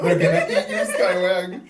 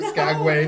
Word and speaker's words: Skagway: Skywag or Skagway. Sorry, not SCA. They're going to eat you. They're going to eat me. They're going to be like mispronounce. They're like, they're actually at Skagway.